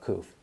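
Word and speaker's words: Qoph: So the letter Koph, or it's also spelled Q-O-O-P-H, pronounced Koph.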